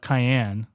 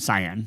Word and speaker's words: cyan: Okay, so we have cayenne. Is that how you say it? Cyan.